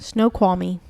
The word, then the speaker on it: Snoqualmie: Snoqualmie.